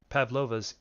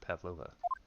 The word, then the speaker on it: Pavlova: Z 9th of January SS bu Miss pava's Pavlov's cabin I should say it right Pavlova pav somehow the door to the cabin we